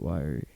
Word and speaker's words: wiry: Or is it weary or is it wiry? How's it spelled? It's spelled W-I-R-Y.